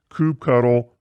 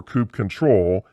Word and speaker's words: kubectl: line interface tools like kubectl which is also sometimes pronounced coop cuddle or coupe control and other api communication